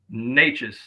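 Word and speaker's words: Nečas: Natchez, like the nature boy, Ric Flair, Martin Natchez.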